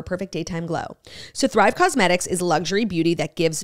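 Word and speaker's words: Causemetics: Cosmetics is spelled, I'm not just talking like I'm from Long Island, like it's cosmetics. C-A-U-S-E.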